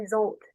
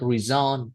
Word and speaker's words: result: result. Oh, Result. okay, result in, right? Last time it's a little bit like reason. No, no, no reason. Result. Result in.